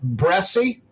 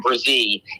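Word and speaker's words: Bresee: defensive tackle Brian what bressie yeah the correct pronunciation Brian um brazee and uh and yeah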